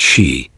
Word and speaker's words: Sith: The word Sith, pronounced she, is a general term for the supernatural race from Gaelic mythology.